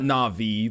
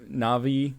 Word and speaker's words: Navi: link you would be Navy na nav na'vi Navi Navi like like navigation there's way too many